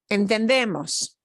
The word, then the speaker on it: entendemos: Entendemos. No. No. No. No. Last letter is S. Second to last syllable. We do pronounce it entendemos.